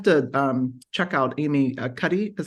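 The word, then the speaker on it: Cuddy: that I have to um check out Amy Cy is how you say her name yes yeah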